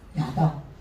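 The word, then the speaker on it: יָדַע: 야다. 달레트에게 레시가 야다 이렇게 됐어요. 이게 처음 나올 때는 아로 발음하지 않고 야로 발음이 맨 처음에 이게 나오면은 야다.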